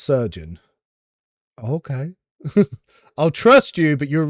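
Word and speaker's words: Chirurgeon: Yeah, the Cherugan. Oh, Surgeon. Cherugan is pronounced Surgeon.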